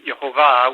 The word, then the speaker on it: Yehovah: Hebrew sources uh is yehovah with the emphasis in the last syllable the Hebrew is usually